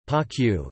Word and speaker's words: Panquehue: Panquehue, Spanish pronunciation, Panquehue, is a semi-soft Chilean cheese produced in the Andean Aconcagua region.